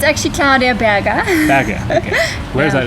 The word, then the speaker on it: Berger: Is that how you pronounce it, Berger? Berger. It's actually Claudia Berger.